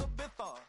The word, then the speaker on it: Ibiza: I just went to Spain, that's a Ibiza. Ibiza, yeah, it's pronounced Ibiza, actually.